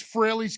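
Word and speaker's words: Frehley: out there to steal so you actually you you hear Ace pronounce his name correctly Rock soldiers off of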